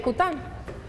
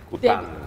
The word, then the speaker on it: Coutin: De ahí viene Cután. Cután. Cután. Se escribe Coutín y se pronuncia Cután.